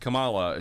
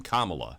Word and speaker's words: Kamala: That you get with this Kamala extract, but because it's not supposed to be pronounced Kamala, she wants you to pronounce her name Kamala.